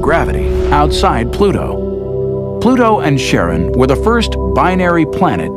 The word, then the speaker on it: Charon: After the ferryman of Pluto's underworld in Greek mythology, but preferred to pronounce it Charon, more like his wife's name, Charlene. From the motions of Pluto and Charon, astronomers could work out